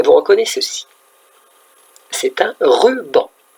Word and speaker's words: ruban: Ruban. Deux syllabes. Ruban. Ruban. Rue, comme la rue des voitures, et banc, comme le banc où on s'assoit. Regardez, pour faire le mot ruban, je prends rue et banc.